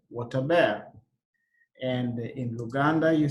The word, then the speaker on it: Wot aber: In Luo, you say Wataber.